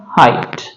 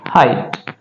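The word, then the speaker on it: height: आई जी एच टी इसका उच्चारण क्या होगा? हाइट। क्या उच्चारण रहेगा? हाइट।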